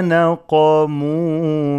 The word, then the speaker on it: نقموا: وما نقموا منهم وما نقموا منهم إلا نون is light قاف is heavy نقا not نا نقموا وما نقموا منهم إلا